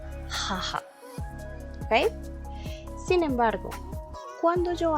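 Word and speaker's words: 母: Para hablar de mi mamá, aquí está el kanji, se dice haha.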